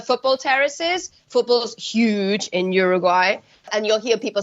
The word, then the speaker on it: Uruguay: I did mention that I'm pronouncing this Uruguay and we talked about this ahead of time because that tends to be the English pronunciation if I was from there I would say it how Uruguay okay so with a o Uruguay so when you hear